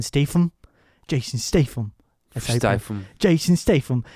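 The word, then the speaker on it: Statham: Rose who's Jack and I think you're mispronouncing Jason's name it's Jason Stam Jason Stam St Jason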